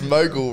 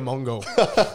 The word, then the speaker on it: mogul: you know the words Mogul right the media Mongol that's how that's how it's pronounced you run a lot of newspapers Mongolia Mongol there's no n there's no n mate but as we do